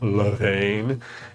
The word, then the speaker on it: Levain: They are supposed to be Levain style cookies, which is like, if you're familiar with Levain, it's like, you have to say it like that.